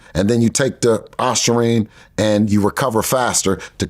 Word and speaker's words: ostarine: Garcia had tested positive for the band peed ostarine ostarine aine yeah I learned how to pronounce it after he got caught with it